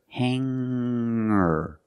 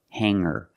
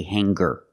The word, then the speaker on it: hanger: change sing to singer when I change these words with e i don't pronounce the G sound it's just the nasal M link together with the r together hanger hanger there's no G sound I cannot say hanger